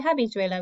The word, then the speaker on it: habichuela: Okay, so this letter, the H, remember, is silent. So we don't say habichuela, we say a. We just pretend it's not there.